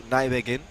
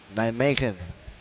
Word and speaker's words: Nijmegen: Ball over, back over to Nijmegen.